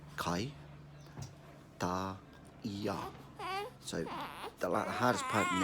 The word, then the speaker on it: Kaitaia: saying hi alright so repeat after me CAI dah yah so the hardest part